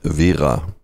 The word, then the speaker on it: Wera: The correct pronunciation in German, and I'm German, is Wera. I know Anglophile people will normally say Wera because they roll the R, but that's fine with us. But Wera is the correct word.